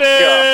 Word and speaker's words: Micah: pronounced You did Mika.